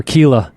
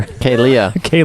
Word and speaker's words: Kealia: blanking I want to keep calling her Kila but there's another there's another syllable on the name backer kayia there you go I